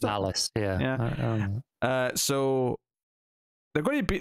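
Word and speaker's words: Nalas: Is that how you pronounced it? Nallis, yeah.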